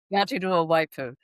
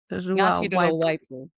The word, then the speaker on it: Ngāti Ruawaipū: Paikea from Ngāti Rua Waipu. How do you say that? Ngāti Rua Waipu. Ngāti Rua Waipu.